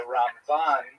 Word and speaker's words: Ramban: Um and especially on Ashkanazim, you can sort of distinguish the difference because we say Ramban uh with the accent on the last syllable and Rambam the accent on the first syllable.